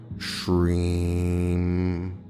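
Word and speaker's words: श्रीं: Drag the middle part out. Shreem. The middle part should be the majority of the breath, and you can conclude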